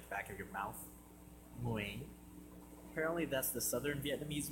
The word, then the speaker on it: Nguyen: Actually, it's pronounced Nguyen. All I know is it's gotta come from your uvula. You know, that punching bag thing at the back of your mouth? Nguyen.